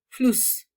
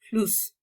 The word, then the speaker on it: Fluss: Eso sí, provoca que la vocal anterior sea corta. Por ejemplo, acá dices Fluss, Fluss.